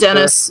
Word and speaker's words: Denys: I don't know how to pronounce it, like Denys Mallister? It's Dennis. It's Dennis Mallister.